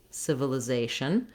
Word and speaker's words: civilization: we move to civilization words that end with atin or the asian ending are always stressed on the syllable that has the a so you can think of that in terms of nation organization civilization that's one of the most dependable uh patterns for syllable stress in american english it's no different here in civilization again you can start